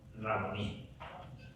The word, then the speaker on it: Raboní: Raboní. Así es la pronunciación.